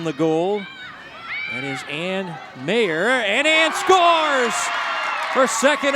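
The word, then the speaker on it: Meagher: name is spelled MEA gah ER but it's pronounced mayor and here comes the stars that would look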